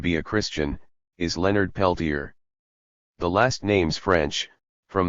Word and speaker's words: Peltier: The name is a shortening of Peltier, but has come to be pronounced in the American fashion, Peltier.